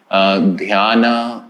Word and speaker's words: dhyana: yoga is idly and truly meant to be pronounced as yog dhyana becomes dhyan asana becomes asan and so on